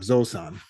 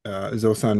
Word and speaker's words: Zosan: one was not far off. Zosan. Okay. Zosan meaning sort of a formal Japanese for elephant.